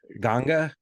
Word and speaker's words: Ganga: also pronouncing Ganges like Ga- the Ganga, which Ganga, is sort of yeah, how most people in India, I guess, yeah, pronounce it.